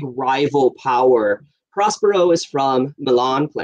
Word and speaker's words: Milan: power prospero is from milan pronounced villain in the play and alonso's from naples